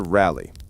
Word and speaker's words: Raleigh: Our tale begins with Sir Walter Rally, pronounced Raleigh, though he himself would probably insist on something more dramatic like Rory.